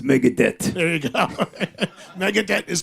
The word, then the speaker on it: Megadeth: they pronounce Mega Death they didn't say Megan it's Mega Death there you go Megadeth